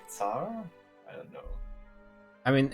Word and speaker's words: tsar: i'm not sure actually i think it's zar i mean the english always wrong yeah i mean they are wrong but uh if i was uh talking just slavic pronunciation of everything then it wouldn't get far i think is that star in slavic it's tsar at least in polish isn't that weird